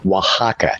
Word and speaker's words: Oaxaca: Yet Oaxaca, it took me forever to figure out how to pronounce that word. Oaxaca.